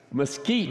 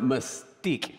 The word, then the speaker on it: mesquite: it mesquite mesquite yes mesquite mesquite oh yeah because i i pronounce it mystique steep mesquite anyway so but all this